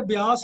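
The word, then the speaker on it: ਬਿਆਸ: तो ये जिहड़े लफज हैं ना एक तो ब्यास लफज है बब्बे के थले अद्धा यईया है तो वो जो कन्ने दे लाम जिहड़ी मात्रा है कन्ने की मात्रा वो भी यईये नूं जाके लगेगी तो इसका उच्चारण होएगा ब्यास।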